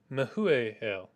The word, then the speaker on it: Mehujael: Irad was the dad of Mehujael. Meh u jael Me e jael Me u or Me e Me u ja el Kids are Yeah, there we go. Mehujael Mhm.